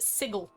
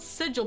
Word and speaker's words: sigil: Um, Morris pronounces it sigle, not sigil. Yeah, it bothers me a lot. Huh. Your money punishment. Yeah, I mean basically it it's spelled sigil, but he's saying sigle.